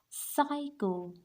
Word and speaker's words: psycho: py pycho the P the p is silent here this is psycho psyo and this